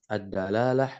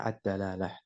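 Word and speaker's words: الدلالة: ini lafal malatah Ya dia memiliki tiga harakat boleh bisa dibaca addalalah bisa dibaca addilalah ya bisa dibaca addulalah Naam walaupun yang Makruf dibacanya addalalah penunjukannya ya pada untuk menunjukkan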